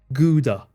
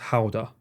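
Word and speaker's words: Gouda: cheese and they got very annoyed whenever I pronounced it GAA or Goda in Japan they pronounce it g in England it's normally G or G but it's actually pronounced Howa I obviously they Haven an AR I've got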